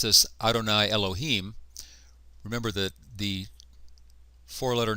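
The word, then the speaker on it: אֲדֹנָי יֱהוִה: by the Jews but when it comes up against Adonai they do not say Adonai Adonai they say Adonai Elohim you might translate this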